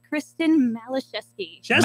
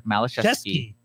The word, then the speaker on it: Malachowski: Please pronounce it for us. That's Kristen Malachowski. See, I put the U in there. Malachowski.